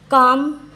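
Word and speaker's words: calm: है next next देखते हैं हम यम कब साइलेंट होता है उसका रूल देखते हैं काम एम के पहले अगर एल आ जाए तो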